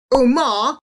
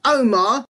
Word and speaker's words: Omar: But these names should be pronounced as Omar, not Omar, Ali, not Ali, and the name Ahmed should